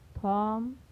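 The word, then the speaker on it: thumb: पहले आया है तो यहाँ पर बी का उच्चारण नहीं होगा, यानी इसे क्या पढ़ा जाएगा? कॉम, थॉम, डेट, डाउट, लैम, डम।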